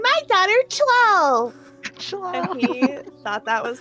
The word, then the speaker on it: Chloe: Her name is Chloe. Like CHLOE, Yes. the way I used to pronounce Yes.